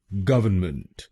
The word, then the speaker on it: government: इसकी सही प्रोनाउंसिएशन है गवर्नमेंट। गवर्नमेंट। इस शब्द में 3 शब्दांश हैं। पहला शब्दांश है GOV, दूसरा शब्दांश है ERN और तीसरा शब्दांश है MENT। पहले शब्दांश को यानी GOV हम बोलेंगे गव, गव।